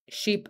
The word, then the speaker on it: sheep: All of those rhyme with leap, sleep, deep, sheep, and cheap. Some languages have a hard time distinguishing sheep and cheap. Make sure you can do that for pronunciation.